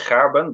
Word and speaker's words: Gerben: In Dutch, it's Gerben, but that's pretty difficult for you.